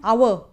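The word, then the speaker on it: hour: एंड एन आवर, एन आवर, अ आवर नहीं, एन आवर, आवर स्वर sound है ना, that's why N here, here comes N.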